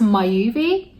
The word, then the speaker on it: Myoovi: this so this is I think it's pronounced my UV and it's basically a